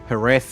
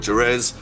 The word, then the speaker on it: Jerez: I call it Jerez. I know it's supposed to be pronounced F, but it's just the Aussie slang in me. It starts with a J, so it's Jerez. A little like Jose instead of Jose.